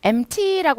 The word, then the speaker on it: empty: empty라고 하는 건 P 발음이 탈락인데요.